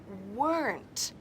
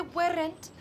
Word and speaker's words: weren't: Pero no saben que se pronuncia weren't. Dilo conmigo en casa. Se pronuncia con una sílaba. My parents weren't. Nada de weren't.